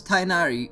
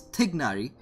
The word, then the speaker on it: Tignari: How do you pronounce Tainari? Because I struggle sometimes. Also, they did 100%. Well, it's Tignari, because it's made out of two different words. Tig and Nari.